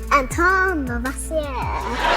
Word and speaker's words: Antoine Lavoisier: That guy has a fancy name, but I think I need to pronounce it like this. It's French. Antoine Lavoisier.